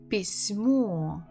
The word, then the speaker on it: письмо: Письмо. Письмо. Письмо. Письмо. Письмо. So we stress О.